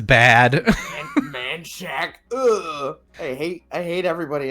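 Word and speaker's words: Manchaca: which should be pronounced Manaka or Manaka yeah Manaka yeah yeah no it's pronounced manshack what yeah everybody in Austin pronounces it man Shack and it sucks man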